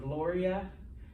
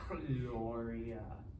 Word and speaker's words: Gloria: like the name if you know anyone named gloria and espanol it's just gloria gloria all right not cloria okay so before a's